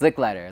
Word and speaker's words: Lichliter: It is. Lick Lighter. Like you're licking a lighter.